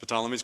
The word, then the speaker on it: Ptolemies: Now the reign is ruled by the Egyptian Ptolemies, I guess you would have you pronounce it Ptolemies, got a PT in there.